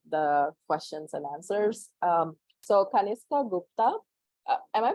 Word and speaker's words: Kanishka: So Kanishka Gupta, am I pronouncing it correctly? Kanishka. Kanishka.